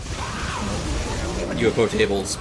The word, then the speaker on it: ufotable: We can argue about UFO Table's animation is the rough part too.